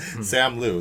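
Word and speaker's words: Simu Liu: thing somebody you know somebody mentioned that sam lou that's how his name is pronounced uh simuli he was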